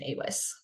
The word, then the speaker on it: AWIS: women in science um I will pronounce it awis or yes y That's how you pronounce the the shorten version awis all right so how do web and AWS